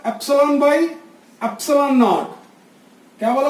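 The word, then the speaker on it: epsilon: ये जो एप्सिलॉन है बेटा, पहले आप समझ लो, एप्सिलॉन क्या उच्चारण करना है, एप सी लॉन।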